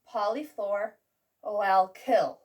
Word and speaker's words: polyfluoroalkyl: Well, we've got PFAS, pronounced PFAS, and this lovely word, which is pronounced Polyfluoroalkyl.